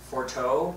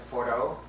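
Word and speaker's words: Forteau: another photo in Labrador a place called for forto but they pronounce it foro and Labrador foro this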